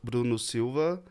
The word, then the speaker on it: Brunno Silva: for me uh well I'll pronounce my name Bruno Silva but Bruno Bruno is quite is a easy name like it's quite International so I'm happy with any kind of Bruno in Italy or Bruno